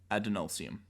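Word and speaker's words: Adonalsium: dude yep definitely um a d o n a l s i u m adenosium adenosium okay cool yes um it's like Ad nauseam exactly sure I think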